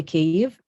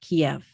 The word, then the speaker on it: Kyiv: capital city of ukraine we say cave and not kiev this is a very